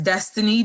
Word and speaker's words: Destinii: If you go to my Instagram page, my name is spelled DESTINII_W. Is Destiny W.